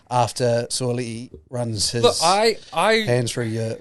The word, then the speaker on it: Sua'ali'i: So how do I pronounce his name properly? Sua'ali'i. Sua'ali'i. I believe. Yeah, so. I think because I pronounced it in a YouTube video and someone called me out for it. So Sua'ali'i.